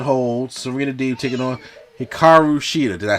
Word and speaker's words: Hikaru Shida: We get the Women of 1,000 Holds, Serena Deeb taking on Hikaru Shida.